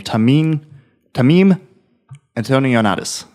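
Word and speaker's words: Tameem Antoniades: So basically what it is the director and writer of the game, Tamim Antonionatis.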